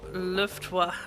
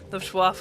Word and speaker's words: Luftwaffe: Well, with the help of Luftwaffe, am I pronouncing this right? Luftwaffe, of course.